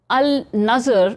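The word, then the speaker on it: Al-Nadr: Al Nazer is it is pronounced as al- nazer was captured during the battle of badr.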